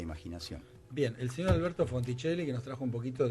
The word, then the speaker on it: Fonticelli: Fonticelli, así como se escribe, nadie capaz, nadie Fonticelli, con C-E-L-L-I. Y doble L, ¿sí?